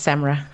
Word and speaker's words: SAMRRA: Is Samra correct the acronym pronunciation? Yes, Samra.